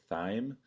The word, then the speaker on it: Thiem: His name is pronounced Thiem, I believe.